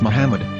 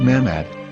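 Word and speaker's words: מחמד: a after the h according to ben yehuda's hebrew english dictionary it is correctly pronounced as muhammad not mahmad so how we're going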